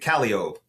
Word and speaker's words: Calliope: think they're said this way, like it's supposed to be Calliope, but we pronounce it Calliope.